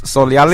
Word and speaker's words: Solyali: Normally it's Solyali. So is that my bizarre fact?